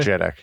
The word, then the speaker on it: JEDEC: If I use a utility like CPU-Z, I can see the SPD information, and I see various JEDEC. Do people pronounce it that way? JEDEC, yeah.